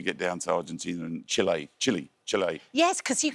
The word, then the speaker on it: Chile: speaking South Americans that I was saying it wrong and I needed to call it it's not Chile it's Chile and you do as you're